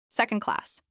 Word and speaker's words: second class: Second class. This is pronounced with stress on sec and class, SEC on class.